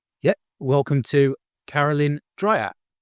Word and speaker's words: Caralyn Dreyer: Welcome to Carolyn Dryer. Hello. Did I pronounce that right?